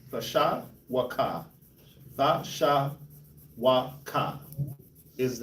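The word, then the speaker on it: תְּשׁוּקָה: Tasha waka. Tasha waka. Tasha wa is how you pronounce this word.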